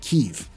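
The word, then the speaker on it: Kyiv: spelling the city name to better reflect Ukrainian pronunciation of keev therefore the lore poost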